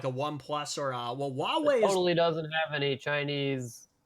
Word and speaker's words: Huawei: for the longest time I thought it was Hawaii oh oh Huawei yeah yeah it's it's pronounced with Huawei it's the one that starts